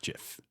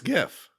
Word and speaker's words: GIF: no phonetic sense whatever there's no phonetic reason for it to be a hard G no it's not it's